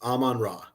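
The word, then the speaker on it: Amon-Ra: Aman raw St Brown so it's a well or Aman am m o n it's Aman raw Aman ra hyphen raw yeah I do know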